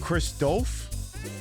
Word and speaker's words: Christoph: Oh, Christoph? There's no L.